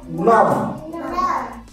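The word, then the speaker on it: numb: নাম হয়ে যাওয়া তো এখানেও আমরা উচ্চারণ করবো না কি হবে উচ্চারণটা নাম কি উচ্চারণ হবে না নাম আচ্ছা বাবা বাংলায় লিখে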